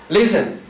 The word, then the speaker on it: listen: yo digo Listen Listen Dónde tiene el acento Listen digo Listen lo baja está al principio se cumple todas las reglas termina en consonante sencilla precedido de vocal sencilla pero no tiene el acento sobre la última sílaba lo tiene sobre la primera entonces no es candidato este